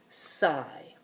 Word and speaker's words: sigh: making its I sound so in this word the G H is silent it's not making any sound now everyone always asks but mr.